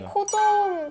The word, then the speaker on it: COZOM: 그의 일환으로 일단은 먼저 코좀이라고 읽으면 되나요? 네, 맞습니다. 네, 코좀 프로젝트에 대서 소개를 부탁드리고 싶은데 네네.